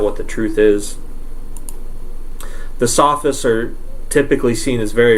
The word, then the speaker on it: Sophists: aren't necessarily philosophers they're the sophist or the Sophists that's how you pronounce it Sophists basically you can think